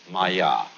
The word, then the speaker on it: Maya: this kind of thing is the Sanskrit term Maya I'm going to write that down for you pronounced Maya and this word comes from a root in